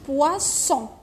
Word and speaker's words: poisson: هنايا قلنا الجيران تاعو، هنايا هذا الجار تاعو ومنا الجار تاعو فويل صافي حنطقوها زا، اوكي؟ بصح هنايا الجار تاعو صح فويل ومنا فويل، بصح انا نطقتها سا.